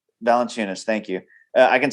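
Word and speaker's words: Jonas Valančiūnas: Jonas Valenunis. Valenunis. Thank you. I can spell it, but I can't say it.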